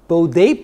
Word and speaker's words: Bode: plot a lot of people call it the bode plot which is the proper way of pronouncing that by the way but anyway what